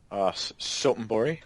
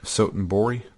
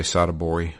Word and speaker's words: Sotenbori: talk to is in gosh, how do you pronounce it? Majima's town. Sotenbori. Sotenbori. There you go. I was going to say Sadabori for some reason.